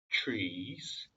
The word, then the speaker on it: trees: You must not eat the fruit from any of the trees. 이거 전 비디오에서 제가 말씀드렸다시피 T랑 R이랑 붙어 있으면 트가 아니라 추 발음입니다.